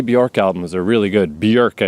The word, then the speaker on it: Björk: Björk, I guess, is technically how you pronounce it, but I'm North American, so I'm going to call her Bjork.